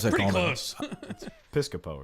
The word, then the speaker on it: Piscopo: How you pronounce that? Pretty Coleman? close. Piscopo, right?